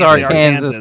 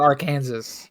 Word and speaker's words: Arkansas: as Arkansas yeah shot it is our Kanas though it is not our Kansas it's Kansas with ar it's a law that